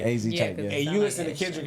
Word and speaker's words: AZ Chike: AZ Chike.